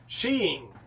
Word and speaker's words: ski: want to rape tonight something funny in norwegian is the word skiing it's pronounced sheing nice pair of she's